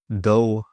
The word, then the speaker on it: though: I'm tired, though I'll keep working. Though, silent g h.